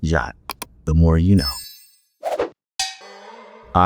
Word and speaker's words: JWT: jwc to be pronounced it's actually kind of easier to say jot instead of JWT um so that's the reason why JWT is pronounced jot the more you know